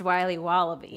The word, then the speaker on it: Wiley Wallaby: It's pronounced Wiley Wallaby. Well, it's very good. It's called Wiley Wallaby, and it's delicious.